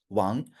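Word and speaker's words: 王: And can you pronounce it? Wang. Great. Wang.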